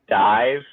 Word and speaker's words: DIIV: I'm gonna tell you the answer it's pronounced dive um and it's cool because uh they were